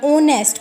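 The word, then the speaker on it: honest: एन ओनेस्ट person, ओनेस्ट, H silent है तो एन ओनेस्ट।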